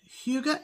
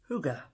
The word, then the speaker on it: hygge: And this is how it is pronounced. Hygge.